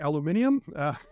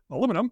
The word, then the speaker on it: aluminium: 1X did you get the impression they're using aluminium has B Americans say aluminum for the bones he did say that bones